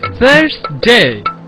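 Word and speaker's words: Thursday: নিয়েও একটি সমস্যা আছে দাঁত এবং জিহ্বার মধ্যবর্তী স্থান থেকে বাতাস বের করে বলতে হবে থার্সডে থার্সডে আন্ডারস্ট্যান্ড আন্ডারস্ট্যান্ড কেমনে বিবিসি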